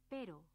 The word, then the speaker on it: pero: Many pairs of words are distinguished only by the difference in these two sounds, so it is important to pronounce them accurately. For example, pero means but. Perro means dog.